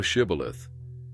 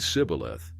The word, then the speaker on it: Shibboleth: If he said, No, then they said to him, Say now Shibboleth. And he said Sibboleth, for he could not frame to pronounce it right.